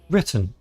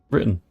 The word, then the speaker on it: written: So the word written if you pronounce it correctly written. However, natively people say written. We miss the tease written. But that short pause we have is called a glottle stop which is a bit